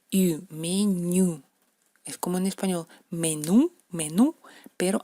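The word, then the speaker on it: меню: Es como en español, menú, pero hay que hacerla más fina, menú, como en francés, menú.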